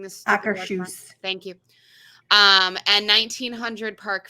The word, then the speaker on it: Akershus: What's the proper way of pronouncing this? Akershus.